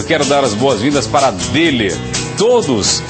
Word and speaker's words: Döhler: quem ama cuida com deer deler se pronuncia deler bom demais né casa